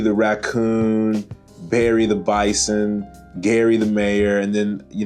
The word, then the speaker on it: Gary: And it's spelled like dairy, but it's Gary, which I think is pretty neat.